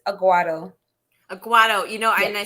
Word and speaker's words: Aguado: It takes people a while to get the pronounce, but it's Aguado.